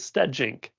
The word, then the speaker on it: Stegink: But the last name is Stegink. The G is like a J. So Stegosaurus like a dinosaur, Steg, and then ink like an ink pen.